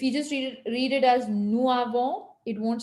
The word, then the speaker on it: nous avons: S of the nous, when you just pronounce nous by itself, we don't pronounce the S. It's always silent. Oh, So nous. But when you have it with avons, nous avons, then when the S is followed by a vowel, which is the A of the avant, then the S is pronounced with a Z sound and it is pronounced as if it is the first letter of avant.